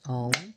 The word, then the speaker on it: Om: It's one word, O-M. But how it's worked with vocally in the mouth, it's you go through the vowels. Ah, O, So, ow is how it's actually pronounced when you're working with deep chant work.